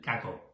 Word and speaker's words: cacao: Do I did I say cako? Not cocoa. CO. I don't know if I pronounce it right.